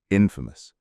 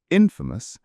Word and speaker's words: infamous: I know it's tempting to say infamous. I remember reading when I was younger the first time I came across this word and I naturally pronounced it infamous, but I was corrected. The stress for both words is on the first syllable.